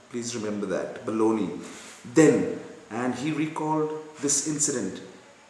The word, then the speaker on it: Bologna: It is pronounced as Bologna, not Bologna. Please remember that, Bologna.